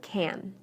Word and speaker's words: can: the a is pronounced when I say can inside the sentence I shortened the a listen carefully to these sentences and pay close attention to the word can I can hear you